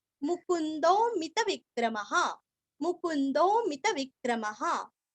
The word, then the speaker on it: मुकुंदो: विनयिता साक्षी मुकुंदो। मु पूरस्व आधा न और अवग्रह का दो के आगे जो है ना तो हल्का सा खींचना है।